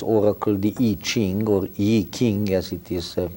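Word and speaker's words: I Ching: the ancient Chinese over cul de Jing or a king as it is pronounced in Chinese and probably those three are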